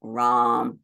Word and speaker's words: ram: The A in each of these is pronounced as ah. So lam, vam, ram, yam, ham.